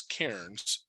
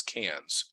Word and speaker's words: Cairns: put in it uh what I always thought was Cairns but which the Australians pronounce as cans I found out um